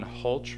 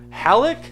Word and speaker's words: Halleck: You are owner of Competition LED, co-driver Sean Holch Racing. Is that how you pronounce it? Sean Halleck. Halleck? Halleck. My God, I've been saying Holch.